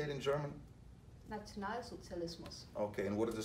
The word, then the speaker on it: Nationalsozialismus: Nationalsozialismus.